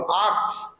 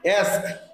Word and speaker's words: ask: এই কথাটাকে অনেকে আস্ক বলো, আক্স, অনেকে বলো আক্স বলো। এ কে না, এখানে আছে এর পরে এস আছে, তারপরে আছে কে, অ্যাস্ক। কি উচ্চারণ হবে? অ্যাস্ক, এস এস এর উচ্চারণটা আগে হবে অ্যাস্ক।